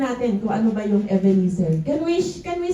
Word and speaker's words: Ebenezer: the stone after the battle and named it Evener and declared th far the Lord has helped me. So ngayon ang topic natin is evener. So lahat tayo ay ah tingnan natin kung ano ba yung evener.